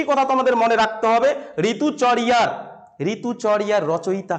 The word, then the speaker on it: ঋতুচর্যা: উচ্চারণ উচ্চ উচ্চই ঋতুচর্যা ঋতুচরিয়া ঋতুচরিয়া তোমরা যদি উচ্চারণ করো তাহলে হচ্ছে কি হবে বলতো যখন এটা বাংলায় উচ্চারণ করবে তখন ঋতুচর্যা কিন্তু সংস্কৃত উচ্চারণ করলে ঋতুচরিয়া ইয়া উচ্চারণ করতে হবে ঋতুচরিয়া এবারে এই যে ঋতুচরিয়া